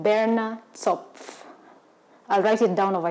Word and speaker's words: Berner Zopf: bread, and it's Sunday perfect, and it's called Berner Zopf. I'll write it down over here so that you guys can pronounce it with me. Say it, Berner Zopf.